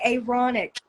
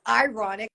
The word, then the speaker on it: Aaronic: And they call the priesthood the Aaronic. Aaron, not ironic, which it is, but like I'm pronouncing it like that, the Yeah, Aaronic Aaronic.